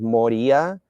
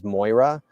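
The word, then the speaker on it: μωρία: It looks like he took a word out um he mispronounces things like he pronounces the word moria which means um silliness. He pronounces it as as Moira, which I mean the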